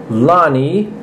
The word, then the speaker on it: Lene: by the gatron 2000 is Lenny not Lenny Lonnie loveage I believe that's the correct pronunciation of her name new toy from 1981